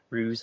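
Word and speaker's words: Ruiz: Don Miguel ruse I apologize for pronouncing his name wrong it's Don m-i-g-u-e-l ruse r-u-i-z um he's done a book called The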